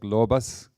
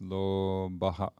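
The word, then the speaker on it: lobhaḥ: You know, when you pronounce this without stopping, the S, like lobas, comes. But when we're cutting it, it becomes lobaha, like that.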